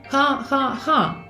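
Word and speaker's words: jajaja: Спочатку, друзі, зверніть увагу на вимову хаха-ха. Ви ж знаєте, що літера Ачи в іспанській мові не вимовляється, але не тут. Так само, якщо, наприклад, хтось не дуже вдало пожартував і ви хочете наче посміятися, але демонструючи штучність сміху. В таких випадках літера Ачи вимовляється як м'якесеньке х, тобто ха-ха.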